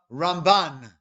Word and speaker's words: Ramban: the rambam whereas nakhmanides emphasis on the second syllable he's known as the ramban right one is a ma and one is